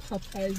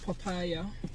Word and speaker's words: Popeyes: Popeyes, not papaya.